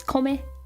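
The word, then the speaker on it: 米: we have oops this is rice which is kome my Orbit when talking about America because for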